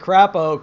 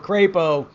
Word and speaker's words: Crapo: here is what senator mike crappo crapo sorry butchered it is is asserting that